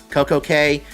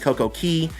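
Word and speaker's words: CocoCay: Coco K uh and some people pronounce IT Coco K others pronounce it CoCo Key and I know they're like on the website it gives a specific pronunciation but it's for Disney's purposes it's key uh let's see uh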